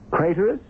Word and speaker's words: Craterus: Craterus, which rhymes with traitorous.